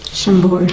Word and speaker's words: Chambord: Chambord.